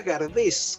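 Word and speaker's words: Gardès: Claro, exactamente, una estatua muy linda, y Gardel, que se llamaba Gardés, con ese final, y se pronunciaba Gardé, y su madre se llama Berthe Gardé, o sea, Berta Gardés, españolizado.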